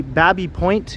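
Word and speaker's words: Baby Point: This is the Babby Point area. It might be spelled like baby, but it's pronounced Babby, so I've been told.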